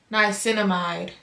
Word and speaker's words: niacinamide: Yeah, niacinamide.